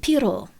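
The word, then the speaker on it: Pierrot: In French, I would pronounce it piro.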